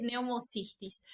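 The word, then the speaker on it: Pneumocystis: neumocistosis con n o puede encontrarla con p con p mudo de neumocistis eh de de de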